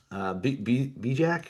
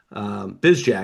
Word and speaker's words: Bizjack: We talked about them for a hot second, but again, Finley Bijak. Why am I saying his name wrong? Bizjack, excuse Finley me.